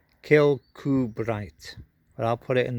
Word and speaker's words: Kirkcudbright: to give me for the pronunciation of this place kill coo bright but i'll put it